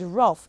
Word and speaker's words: rough: sounds that you hear consider the word rough again r for r o o u when put together make the sound o g h at the end of the word make the F sound okay boys and girls